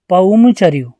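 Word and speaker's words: पउमचरिउ: राम कथा लिखी थी, जिसे अपभ्रंश में क्या प्रोनाउंस करते हैं? पौमचर्यू।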